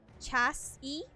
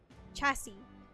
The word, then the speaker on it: chassis: in the runner word chassis is pronounced chass e chassis it means the tire suspension